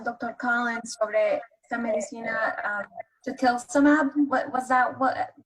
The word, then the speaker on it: tocilizumab: Collins sobre esta medicina, tocilizumab, what was that, what pronunciation? Tocilizumab.